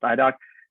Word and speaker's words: IDOC: css or the idoc that's idoc but pronounced idoc that you will do